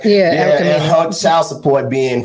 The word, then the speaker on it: Erica Mena: That's how you pronounce her name, right? Yeah, Erica Mena.